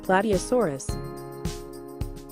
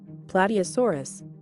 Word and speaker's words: Plateosaurus: used for defense and Phoebe how do you pronounce plate a source in English body asaurus Plateosaurus let's listen again Plateosaurus Plateosaurus finally it is a poster such as